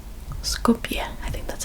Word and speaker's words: Skopje: It's Skopje. Skopje. I think that's how it's pronounced.